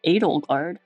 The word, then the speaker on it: Edelgard: My name is Edelgard. Oh, she pronounced it Edelgard. Okay.